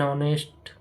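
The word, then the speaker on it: honest: Second B ऐसे शब्दों में जहां एच साइलेंट रहता है। उन शब्दों से पहले एन का प्रयोग किया जाता है।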